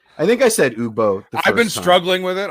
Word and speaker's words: Ugbo: It's Ugbo. Thanks, Tedium. I think I said Ugbo.